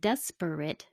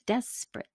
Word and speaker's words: desperate: might have noticed that some of those words dropped a complete syllable instead of desperate it's desperate corporate changes to corporate doctorate